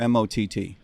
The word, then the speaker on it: Maat: you termite Mike Tremont as though it were mot which is not of